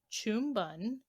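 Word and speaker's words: Pchum Ben: go to cambodia cambodia so this is called chum bun but it's pronounced p-c-h-u-m-b-e-n oh i'm sorry it's spelled like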